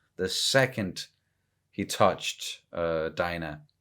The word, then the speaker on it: Dinah: second he touched uh dinah that that's how they're pronouncing it right yeah well i'm gonna say dina fair enough um and